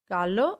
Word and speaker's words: gallo: also in the meaning gallo means rooster whereas jallo means yellow so the way you